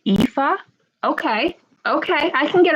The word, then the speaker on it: Aoife: We pronounce it Aoife.